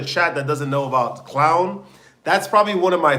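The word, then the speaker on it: Klovn: Clown. I was like it's spelled cloven. K l o vn. So they were like no that's how you pronounce it in Danish. It's clown.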